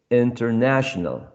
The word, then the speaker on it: international: bottom left corner okay international international international clearly uh the third syllable is the one which is stressed that's going to contain or a berry or bear the primary stress there are other words